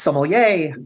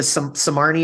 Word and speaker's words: sommelier: got so tired of people mispronouncing it oh you're the samarney or the Somalian the the somani my favorite one or similar and I was like